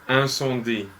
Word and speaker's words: Incendies: Okay, we haven't been pronouncing it properly. I think it's Incendies.